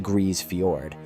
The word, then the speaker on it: Grise Fiord: Grise Fiord, pronounced Grise Fiord, sits on the southern coast of Ellesmere Island, over 1,100 km north of the Arctic Circle.